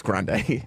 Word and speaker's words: Grande: Ariana Grande. Oh, Okay. you got it. Hey, Ariana Grande. Yeah. I'm kind of almost happy I don't know her name. It's grande.